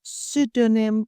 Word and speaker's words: pseudonym: So in a business context, you could find a word like pseudonym, which is relevant in authorship or branding, pronounced pseudonym without a P, or psychological, a key term in leadership, where again we don't hear the P.